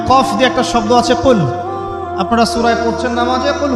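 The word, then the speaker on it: قل: কিন্তু আপনি যদি কফ এর মাখরাজটা ভুল করেন এবং কফ না বলে আপনি ছোট কাফ পড়েন এবং কুল না পড়ে আপনি কুল পড়েন, বলেন যে কুল হুয়াল্লাহু আহাদ, তাহলে অর্থটা পরিবর্তন হবে। অর্থ দাঁড়াবে খাও আল্লাহ এক এবং অদ্বিতীয়।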